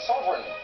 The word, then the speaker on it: sovereign: Which consonant is silent in the word sovereign? G. Correct. In what underwater activity is Trimix gas commonly used?